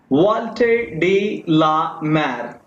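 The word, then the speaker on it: Walter de la Mare: आपके पोएट का नाम है वॉल्टर डी ला मार, पढ़ते हैं इसको हम, ये इसकी सही प्रोनाउंसिएशन है।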